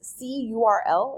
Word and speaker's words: cURL: talking about something called curl we also call this see URL is another way to pronounce this but specifically we're gonna